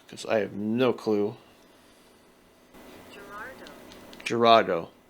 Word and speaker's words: Girardeau: Girardeau. Girardeau. Okay. Cape Girardeau. That is not how it's pronounced. Not how it's spelled.